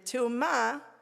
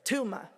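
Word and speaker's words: טומאה: And Te'umah those are just like the Hebrew and the Yiddish pronunciation of the same word. Te'umah, same thing.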